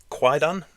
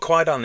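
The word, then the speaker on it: Kwaidan: Yeah, because you just informed me that you do have a film called Quaidan, I think you pronounce it. Is it Quaidan? Quaidan.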